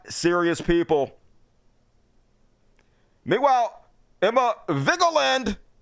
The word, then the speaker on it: Vigeland: ideas folks Democrats not serious people meanwhile Emma vigeland correct way to pronounce her name scoop Schumer open to dumping